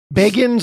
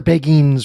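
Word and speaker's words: Beguines: I believe they're pronounced the Beganies. Beggins or Beggines would be the most common.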